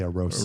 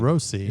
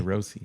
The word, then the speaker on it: Arosi: So originally it's supposed to be Arosa. but it's spelled with an I, so That's it's right. Arosi. Arosi.